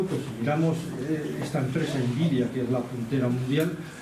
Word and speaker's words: Nvidia: gran empresa tecnológica norteamericana Nvidia eh que tiene un nombre escrito para que se pronunce como envidia en en en castellano, o en las lenguas latinas, esta empresa envidia del CEO ha estado